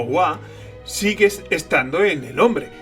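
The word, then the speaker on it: は: de qué estamos hablando, que es esta pronunciada como wa, sigue estando en el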